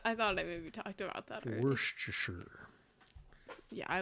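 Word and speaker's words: Worcestershire: and I was like wow it tastes like worest Shire he's like that's cuz I used it because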